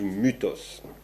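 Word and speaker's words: μῦθος: myth en français hein le le y ce qu'on appelle le y c'est en fait ça se prononce u en grec donc on dit Mutos Diotima c'est un personnage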